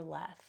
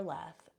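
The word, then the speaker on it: Lethe: those who died would drink from the river leth and when you drank from the river leth you would forget the previous life and people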